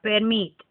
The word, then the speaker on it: permit: Doblado las dos r por ejemplo permit permit estamos haciendo el acento no en la segunda no en la segunda sílaba permit Pues también duplicar remos